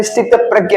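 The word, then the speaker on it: स्थितप्रज्ञ: मैं जब पढ़ा तो मुझे प्रश्न लगा था, बट इसका मैं प्रोनाउंसिएशन देखा तो उसमें पता चला स्थित प्रज्ञ है।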